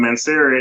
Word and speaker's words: Mancera: It is from Mancera. Yeah, so it's funny because you have the Aventus, you have that pineapple note that's kind of refreshing, and then from Mancera it's a little creamier version of Aventus in my opinion.